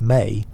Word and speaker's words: me: The Mesopotamian concept of me, pronounced may deserves exploration.